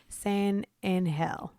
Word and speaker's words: San Angel: It's a soft G. It's like the soft J in yogging.